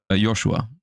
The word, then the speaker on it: Joshua: In English, it is Josh, but in German, uh, it is Joshua.